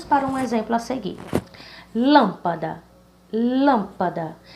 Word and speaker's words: lâmpada: Então, vamos começar do final, né? Da, pa, lã. Então, a mais forte seria lã, sendo a primeira sílaba dessa palavra. Lâmpada, lâmpada. Então, lâmpada, a sílaba lã, ela é proparoxítona.